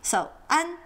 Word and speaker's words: ㄢ: Now for an there isn't a very good English equivalent. It's not an and it's not on. It's somewhere in between. The best example I could think of is the Spanish word for bread, pan, as in panaderia, bakery.